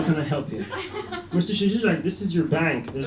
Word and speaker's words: Szczesiak: My last name is spelled S-Z-C-Z-E-S-I-A-K, pronounced Szczesiak.